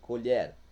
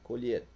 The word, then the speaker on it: colher: Por exemplo, colher a talher, pronúncia aberta, colher. E a colher e colher, né? Desculpe, de fazer a colheita, pronúncia fechada, colher.